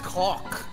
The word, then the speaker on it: caulk: Now, is it pronounced that way or is it caulk? It's caulk. I think it's caulk.